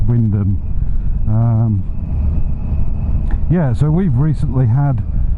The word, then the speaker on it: Wymondham: Actually that's spent Wymondham, but and I think the one in Leicestershire might be called Wymondham, but round here it's pronounced Wyndham.